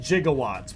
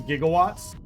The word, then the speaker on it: gigawatts: Oh, so he pronounced it jigawatts, but it is gigawatts.